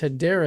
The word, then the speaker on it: Hedera: Uh, first off is Hideera has been chosen for this country's digital dollar.